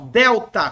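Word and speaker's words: δέλτα: letra letra D então ele vai representar o nosso D como na palavra dedo tá dedo o delta gente não tem um som de dinheiro como na palavra dinheiro não tem esse som é o d esse D com a língua nos dentes mesmo D delta delta a língua nos dentes e não na palavra dinheiro é diferente o som no coin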